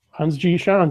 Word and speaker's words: Hans G. Schantz: to day's guest is scientist inventor and author Hans G Shawn so I hope I pronounced that correctly yes you did that's standing